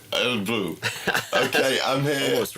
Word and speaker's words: Örebro: How's it pronounced? Örebro? Örebro. Örebro.